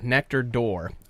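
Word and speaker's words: Nectar d'Or: nectar day or but it seems to be pronounced door nectar door seems to be how everybody flung from Glenmorangie pronouncing nectar door almost like it's we're opening and closing a door so now this one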